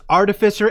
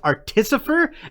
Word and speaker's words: artificer: was on your side up until you pronounced artificer as artisopher and we are now mortal